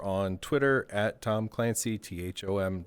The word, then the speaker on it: Thom: Twitter at Tom Clancy, THOM, the H is silent, but very important.